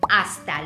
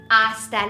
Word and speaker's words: hasta: ciao very good hasta luego hasta luego remember that H is silent hasta luego see you later